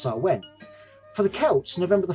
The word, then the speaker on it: Samhain: pre-christian celtic festival called Samhain strictly speaking pronounced so when for the Celts November